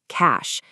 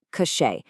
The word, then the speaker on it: cache: Cash. It's pronounced cash, just like money. It is not cachet.